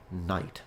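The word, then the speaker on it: knight: became knit and then finally the K was dropped very last phenomenon it's a quite recent development linguistically speaking and it became night so ready medieval person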